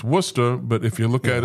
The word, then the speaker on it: Worcester: the and it's, you know, it's it's it's Worcester, but if you look at it on the map, it looks like it's worse, but it's it's Worcester is how we pronounce it.